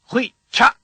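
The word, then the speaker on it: ghuy'cha': Hui cha. The first sound of the word is r. It's the same as the last sound of todshach, but hum while you say it.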